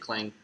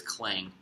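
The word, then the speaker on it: Klang: can't really hit Clank is it Clank or clang I think it's clang actually is it yeah have we been saying it wrong this whole time I blame you I blame you it is clang with a G it's probably fine oh well and with a K technically but oh gosh okay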